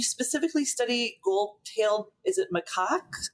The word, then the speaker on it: macaque: animal kingdom, you specifically study gold-tailed, is it macaque? How do I pronounce that? The lion-tailed macaque.